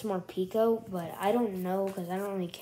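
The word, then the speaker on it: Morpeko: how it actually well some people pronounce it like more my friends they say more peco but i think it's more pico but i don't know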